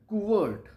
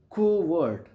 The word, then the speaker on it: covert: Co- covert or covert.